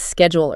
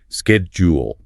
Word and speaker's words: schedule: We mentioned schedule earlier. Yes. AME typically uses a hard sex sound at the beginning. Schedule. BRE often uses a softer sh sound. Schedule. That initial sound is quite distinct.